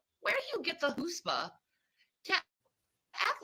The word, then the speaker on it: chutzpah: That is how you pronounce it.